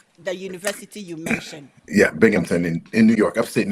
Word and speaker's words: Binghamton: Now I'm at the University of Binghamton in New York. Pronounce it that again. University of Binghamton.